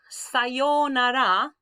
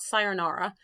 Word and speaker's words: sayonara: goodbye, sayonara. It's not sayonara. Sayonara. Notice we've got the u there. That means hold this a little, sayonara.